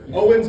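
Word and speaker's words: Eoin: Yeah, so Owen's been a bit of a tough one. It's spelled E-O-I-N, so that means substitute teachers hate me.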